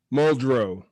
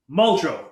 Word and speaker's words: Muldrow: you say your last name for me muldrow muldrow muldrow former first responder founder of code